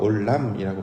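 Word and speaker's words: עוֹלָם: 그래서 영원하신 하나님의 그 내용과 닮아 있는 것이 바로 번제인데 영원은 히브리어로 올람이라고 발음을 하고 번제는 올라라고 발음합니다. 우리 말도 비슷하잖아요.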